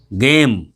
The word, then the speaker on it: game: गेम, GAME, गेम।